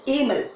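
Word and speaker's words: Hamel: but you are going to pronounce it as Amos HP is silent he is a teacher of French teacher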